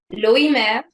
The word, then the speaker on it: Loimer: I just want to say that I'm going to correct your pronunciation because I actually speak German. It's Please do. Grüner, Vetliner, Loimer, Lois.